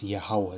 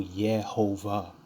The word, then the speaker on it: Yahawah: so-called white man okay it's yahwah there ain't no yahova where is the V that's a that's a w you see so it